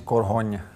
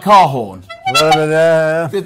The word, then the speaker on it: Korhon: We're joined by, now, let's get the pronunciation of this right.. Yeah. And then the surname is Korhon. Yeah. So a bit like Korhon.